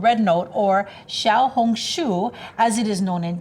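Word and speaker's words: 小红书: It's called Red Note, or Xiaohongshu, as it is known in China.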